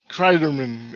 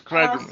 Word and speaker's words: Cryderman: Cryderman, exactly how it sounds, Cryderman.